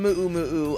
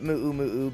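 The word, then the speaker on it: muʻumuʻu: So I don't know which one it is, but I am going to continue to call it mu'u mu'u because that's what I was told, and that's what I've been told again and again and again.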